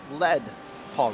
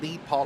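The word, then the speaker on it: Lieb Paul: been saying it wrong it is lead Paul racing like they have a lead Paul like they want to go fast so it do not lead Paul like I thought it was it is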